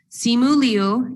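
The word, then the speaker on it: Simu Liu: is uh and he tweeted that yes so simulu is how you pronounce the actor's name and then shang chi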